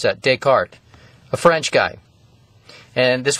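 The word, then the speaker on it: Descartes: invented this cordinate system his name was Renee deart that's how you pronounce that deart a french guy and this was around uh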